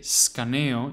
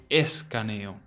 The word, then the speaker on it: escaneo: While this cognate is very similar to the English equivalent, scan, remember to pronounce the E at the start. It is not silent. You won't say scaneo, you will say escaneo.